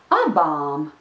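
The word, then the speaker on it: abām: and that word is a bomb a bomb a bomb a bomb there are two vowels in this word the first one is the short and the second vowel is the long are yes those are two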